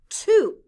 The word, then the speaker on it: too: The letters O-O stand for the long U sound. Ooh. Blend with me.